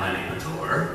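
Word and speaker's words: Lanipator: I'm Lenny Mator. Despite popular belief, I did just pronounce it correctly.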